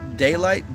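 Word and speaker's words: Daylyt: out of control daylight you can't spell it d-a-y-l-i-g-h-t it's like delight but daylight yeah yeah yeah yeah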